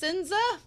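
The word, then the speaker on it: Sense: wolf and doggo um they said H that since is pronounced sinza sorry if I've been mispronouncing it this entire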